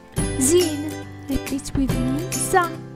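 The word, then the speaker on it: ز: Repeat with me, za, is similar to the English sound z, like in zebra or zoo.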